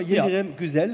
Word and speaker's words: Yildirim Güzel: Vom Namen her, Jomi ist dein Spitzname, Yildirim Güzel ist richtig ausgesprochen? Genau, ja. Güzel.